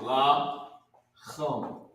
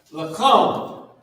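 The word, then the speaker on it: לחם: Bread, and this is how you pronounce it. La chum. Cham. Lakum.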